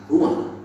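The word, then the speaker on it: רוּחַ: Kata dalam bahasa Ibraninya adalah ruang. Ruang. Iya, benar. Tenggorokan kita harus benar-benar bersih di antara pengucapan.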